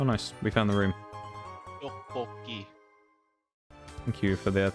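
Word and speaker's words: tteokbokki: Doboki. Thank you for the pronunciation there, bub.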